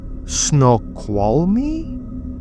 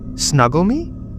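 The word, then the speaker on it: Snoqualmie: Eastbound right before exit 51 on Snowqual Me. What? Snuggle me. Snuggle me. I'm just joking. It's pronounced snow qual me.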